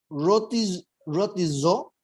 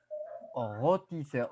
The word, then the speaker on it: rôtisseur: Rôtisseur. Je reprends, attention. Je ne sais pas comment je peux le prononcer. Je ne sais pas comment je peux le prononcer, professeur. Mais on va prononcer rôtisseur.